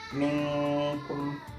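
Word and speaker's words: مِنْكُمْ: Nah, maka cara bacanya adalah antara gunnah dan izhar, maka dibaca minkum, seperti itu.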